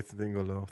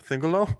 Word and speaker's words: Thingol: Let's say fuck away Thingolo. Thingolo? I just said it wrong.